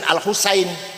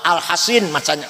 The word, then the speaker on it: Al-Hasin: Al-Hasin sod bukan sin. Kalau sin Al-Husain, kalau sod Al-Hasin bacanya.